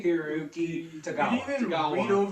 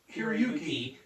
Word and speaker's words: Hiroyuki: and then the late Carrie uh Carrie Heruki. I apologize. I apologize for if I mispronounced that. I'm doing my best. And the late Carrie Hiroyuki Tagawa Tagawa.